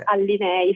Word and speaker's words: Allinei: Ho pronunciato benissimo il mio cognome, io sono Allinei, segretaria generale dell'Assoutenti.